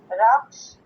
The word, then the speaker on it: رخش: جی کیا آپ تلفظ کریں گے؟ رے، خے اور شین. رخش، اس کا چہرہ.